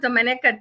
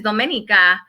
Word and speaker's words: Domenica: So I'm okay with Dominica too, but the way that you say it is Domenica.